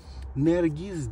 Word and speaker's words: Nergis: kullanılan bir bitki türüdür Nergiz diye telaffuz edilir Eee dediğim gibi Anadolu'da